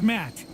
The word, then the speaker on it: Matt: not an inch less the name's mat the second tea is silent sure sounds like an